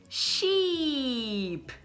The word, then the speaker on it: sheep: Do sorriso. I. Então a primeira palavra vai ser sheep, né?